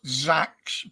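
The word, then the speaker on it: seax: That is pronounced Zax, but it's spelt as sax, S-A-S-X, which was a very common Viking knife with the shape of it.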